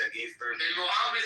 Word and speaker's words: Muhammad: Why do you say you can You have to pronounce it like you have a fucking, you have some phlegm in your throat.